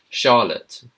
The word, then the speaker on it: Charlotte: Charlotte. Charlotte. Charlotte. Sh. It's like a sha, not charott. Charlotte, not Charlotte.